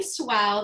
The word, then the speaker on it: Suau: my name is swell that's like wow but with the s in front and that's my way